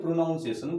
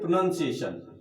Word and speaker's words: pronunciation: हम लोग बोलते हैं प्रोनाउंसिएशन, बट इट्स रॉन्ग, ये गलत है। हमको बोलना चाहिए प्रोनाउंसिएशन।